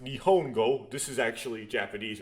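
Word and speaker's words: 日本語: That's pronounced Nihongo.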